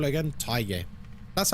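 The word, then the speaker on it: Thaye: Tay. That's how you pronounce it. Tay.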